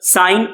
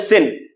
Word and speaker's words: sine: कुछ गलती से इसको सिन भी बोल देते हैं। क्या बोल देते हैं? सिन। सिन गलत प्रोनाउंसिएशन है, सही प्रोनाउंसिएशन क्या है? साइन होता है।